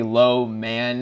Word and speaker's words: Loman: play and I noticed his last name is Loman which is like phonetically low man and how did so